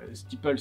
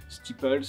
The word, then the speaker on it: Steeple: très bien la prononciation, il n'est pas rare d'entendre des steeples avec un S à la fin, ou des Steeple, ou